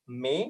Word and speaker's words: MAE: It is called May, which is spelled MAE.